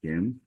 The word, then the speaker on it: Gim: just to clarify my my last name is pronounced gim I know it's it's